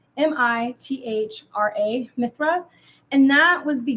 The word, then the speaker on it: Mithra: look up how to say it but it's m-i-t-h-r-a Mithra and that was the god he was